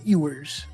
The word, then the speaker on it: Ewers: Ewers.